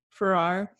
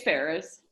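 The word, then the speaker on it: Ferrars: Farrar was kind to her yesterday. She doesn't. Did you just say Mrs. Farrar? I don't know how to say it. It's Ferris. Ferris? Okay. There's no S.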